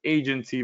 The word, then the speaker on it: Aigency: I'm introducing you today to Agency Valet. Uh the I is silent.